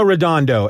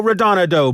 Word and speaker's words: Redondo: it correct the first time bruto bru bruno redondo and then something in my brain clicks that's